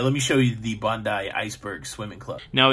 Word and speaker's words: Bondi: it's a private swimming club this is the bondi's iceberg private swimming club it's 303 a.m now